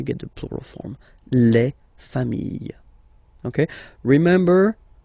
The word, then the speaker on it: famille: the plural form, les familles, okay? Remember, chien, singular form, chien, same pronunciation, but you put this S, okay? Final S, not pronounced. Famille, singular form, famille, plural form, same pronunciation, S, not pronounced.